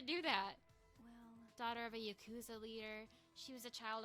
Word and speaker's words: Yakuza: Yakuza. Is that not what I said? What? How do you say it? Just I don't know why you put so much emphasis on the coup.